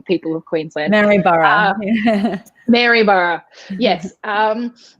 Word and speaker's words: Maryborough: Maryborough. Maryborough, yes.